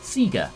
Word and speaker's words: Sega: who are terminally online arguing between Sega and Sega for pronunciation if anything it should surely be Sega the Japanese business we